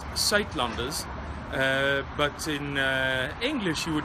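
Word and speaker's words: Suidlanders: Okay, it's pronounced Saitlanders, but in English you would probably pronounce it some of the thing like Suitlanders, and this is how you spell it.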